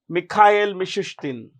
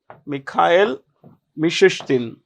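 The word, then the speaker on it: Mikhail Mishustin: Vladimir Putin well we Russia's prime minister is mik mishustin mik mishustin this is the name of the Prime Minister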